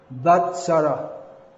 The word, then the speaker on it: Vatsara: will speak on Sri Vishnu Sahasranama, name 471, Vatsarah.